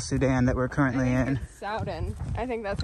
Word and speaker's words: Soudan: Soudan. I think that's how you pronounce it. Oh, not South Sudan? No, it's S-O-U-D-A-N, so I would call that Soudan.